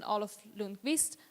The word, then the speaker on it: Olof Lundqvist: So, we just said the title and we're here talking with Olof Lundqvist, if I'm pronouncing it correctly.